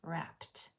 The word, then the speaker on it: wrapped: So, in wrapped, that p is voiceless. p There's no vocal cords being used. So, that e d is going to make its voiceless sound and say t. That's why it's wrapped.